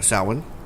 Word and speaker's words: Samhain: their Festival of the Dead, usually known as Samhain. Yes. Yes. Yes. Unless you're people who don't know how Celtic things are pronounced, and Yeah.